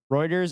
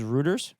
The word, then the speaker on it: Reuters: trauma response thanks ghost am I the only one who pronounced rers rers uh Reuters as rotters for like 10 years yeah probably sorry